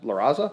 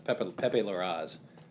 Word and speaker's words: Pepe Larraz: number 38, art by Laraza. I was going to say Aaron Lepestri, that's not right. Salvador Laraza? Laraca? No. Pepe Laraza. Oh. Pepe. There's no A on the end. It's Pepe Larraz.